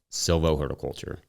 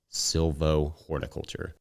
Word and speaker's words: silvohorticulture: that word out loud silvo horiculture silvo horiculture compare it to Silo pasture which rolls off the tongue pretty nicely for silvo horiculture if you don't pronounce the h it gets a little easier so like silvo horiculture